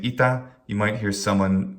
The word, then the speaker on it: ita: One that's very common, the word ita, which means thus or so, ita. Short, short. We can even mark the duration of each syllable underneath it.